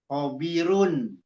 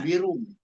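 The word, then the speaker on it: خَبِيرٌ: bacanya N-nya diganti sama M. Harusnya kan hobirun. Jadi Ya, hobirum.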